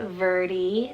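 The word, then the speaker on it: Vertie: in english meaning ancient nor verdi spelt v-e-r-t-i-e verdi this one also is a virtue name meaning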